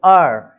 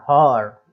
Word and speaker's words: hour: तो आर ऐसा पढ़ते हैं, ना कि HOUR, हॉर, ऐसा नहीं बोलना है उसको, हॉर, ऊपर लिखा हुआ हॉनर, हॉर, इस हा नहीं बोलना है, एच जो है वो साइलेंट हो गया तो केवल पढ़ेंगे OUR, है ना, आर लिखेंगे इसी तरीके से पढ़ेंगे और एच हटाकर। नेक्स्ट है ऑनरेरी, ऑनरेरी है